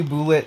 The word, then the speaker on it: Boolit: way like equally as much and then finally bullet added um not finally but last but not